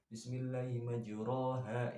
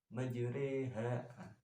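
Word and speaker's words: مَجْرٰىهَا: Jadi kayak bismillahimajreha, bukan bismillahimajroha, itu kan asli fathah ya. Kalau misalkan dimiringkan, dikasrohkan dengan bismillahimajriha ya, itu kan enggak, jadi tengah-tengah, jadi kayak miring gitu. Jadi bacanya itu kayak bismillahimajreha wa mursaha. Itu bacaan imalah, dan panjangnya itu dengan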